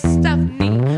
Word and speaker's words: Stefani: let me introduce myself my name is stephanie pronounced with the knee oh boys oh how